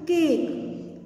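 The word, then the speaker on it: cake: ई के लिए भी मैंने ए बताया था, बट यहाँ पे साइलेंट है ये, तो इसका साउंड नहीं निकालेंगे। केक क्या बन गया?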